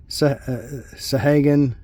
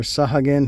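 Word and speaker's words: Sahagin: Uh, food artifact common sahagan or sahagen, however you want to pronounce it.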